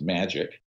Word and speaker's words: Majic: the majority intelligence committee majic is pronounced magic ironically uh or not ironically